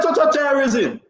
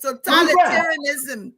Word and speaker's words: totalitarianism: No, I really want to pronounce it because everything I hear, if you listen to Iri Akara's way, he said total terrorism. It's totalitarianism. Totalitarianism.